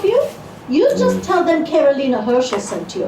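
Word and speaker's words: Caroline: Carolina, she pronounced it Carolina.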